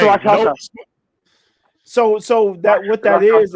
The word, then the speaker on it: Rakshasa: So he like, hey, we got bum rushed by the Rakasha. Is that how you say it? Rakshasa. That's a hard ass word. Fuck that word. Rakshasa. Noma looking at him. It's Rakshasa.